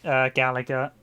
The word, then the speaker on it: Galaga: Yeah, Galaga. It's Galaga. There was some recent people trying to mispronounce it.